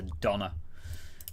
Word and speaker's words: doner: No, it is spelt like donor, as in like organ donor, whatever. It is spelt like that, but it's a Donna.